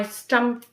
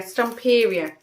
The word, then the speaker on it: Stamperia: This is by Stamperia, I think you pronounce it. I've bought papers from them before. Yeah, Stamperia.